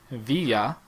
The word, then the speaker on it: villa: So, and then there's just like some of the similar letters, like if you see a double L in Spanish, it's actually supposed to be pronounced with a Y sound. Yep. Such as villa, V-I-L-L-A.